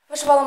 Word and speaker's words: вишивала: Маряна малину скоро мовочки вишивала мишколовку синім шоком мишоловку звертаю вашу увагу у слові вишивала наголос на третій склад слово ловко запосичене з